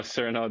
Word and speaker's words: Cyrano: With a little longer nose, isn't that Cecile de Bergerac, or how do you pronounce that name? Cecilia. Oh, Cyrano de Bergerac.